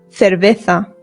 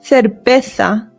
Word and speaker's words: cerveza: One other good drink to know is cerveza. Cerveza. Don't worry if this pronunciation is scaring you. Remember the C's in Spanish make a th sound, but the Z's do as well.